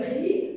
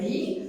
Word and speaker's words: riz: Donc, l'autre phrase, je te propose un gâteau de riz. Je te propose la même chose, la terminaison de la conjugaison. Riz, il se termine par Z.